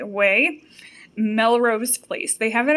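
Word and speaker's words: Quay: And it is the Way. It's spelled Q-U-A-Y. Way.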